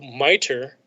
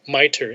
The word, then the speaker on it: MITRE: ttps could be so miter they pronounce it miter m-i-t-r-e as what you pronounce it miter so miter has this